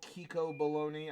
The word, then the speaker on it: Kiko Bologna: of the morning but you did not mispronounce my name it is the real kiko bologna i go by kiko